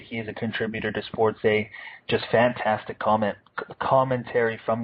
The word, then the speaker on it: SportsEh: on Twitter and uh it's spelled as it would sound with the eh you know Canada a you know the the The Stereotype uh Sports a SP p o r TS e that's on Twitter follow